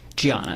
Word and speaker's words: Diana: Bunting was married to a woman named Diana, correct? Gianna. It's spelled with a D, but she's Brazilian.